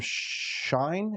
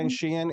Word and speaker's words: Shein: Okay, yeah, I think I got this one from Shine. Is that what I Oh, yeah. pronounced it? Shein.